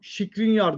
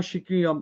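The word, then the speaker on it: Škriniar: Şikrinyar diye okunuyormuş.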